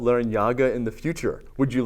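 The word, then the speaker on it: Larrañaga: The enye is an accent mark over the N in my last name, and I've used it throughout my life.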